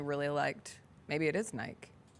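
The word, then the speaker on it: Nyck: It's Nick. It's Nick.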